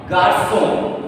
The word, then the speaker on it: garçon: Garçon.